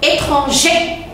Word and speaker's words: étranger: Alors, dans la prononciation, attention, étranger. Je n'entends pas le R. Je n'entends pas le R. Le R ici, il est muet. Mais quand j'ajoute le E, j'entends R.